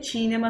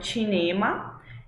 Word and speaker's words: cinema: Atenção para como a gente pronuncia cinema no italiano, né? Então não é cinema, é cinema, cinema.